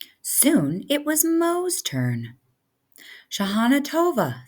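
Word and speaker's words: Shanah Tovah: Shahana Tova.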